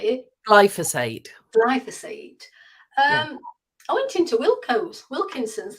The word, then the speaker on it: glyphosate: Roundup, which is glyphosate, is it? Glyphosate, yes. Sorry, how do you say it? Glyphosate.